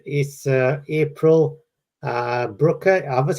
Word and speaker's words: Brucker: so much stuff uh it's is April uh Brooker right yes Brooker you said right very good you know a